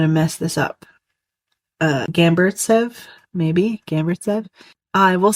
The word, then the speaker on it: Gamburtsev: Uh Gamburtsev, maybe? Gamburtsev? I will spell it for you.